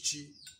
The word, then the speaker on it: chi: And in Igbo language, it is called CHI, three-letter word, chi.